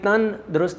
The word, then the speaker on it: تندرست: تن الگ لکھا ہوا ہے، درست الگ لکھا ہوا ہے، ورنہ تندرست یوں لکھتے، یہ تن درست لکھا ہوا ہے اس لیے کہ اصل تلفظ یہی ہے تندرست، یعنی درست جسم کے